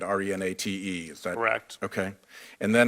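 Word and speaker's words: Renate: you know Renata Renata it's spelled with an e at the end re na te is direct okay and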